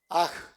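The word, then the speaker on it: hajj: Aj. Se escribe H a J.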